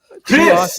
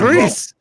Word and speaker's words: Rhys: It's the H is more dominant than the R, but the R is Chris. wrong. Chris.